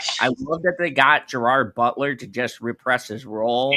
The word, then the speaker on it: Gerard Butler: It's Gerard Butler. It's not Russian. It's It's Irish. No. No. It's pronounced Gerard. Butler, not Jared.